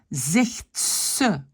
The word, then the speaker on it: zegt ze: Zegt ze. Le Z devient se. Z ici devient S.